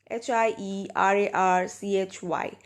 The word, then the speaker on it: hierarchy: a high mortgage payment okay the next is hie ra r CH Y so how do you pronounce this so do you see hi Archy